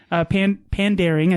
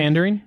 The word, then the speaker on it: Pandaring: Pandaring, I think is actually how you say it. Pandering? No, it's Pandaring. It has an A.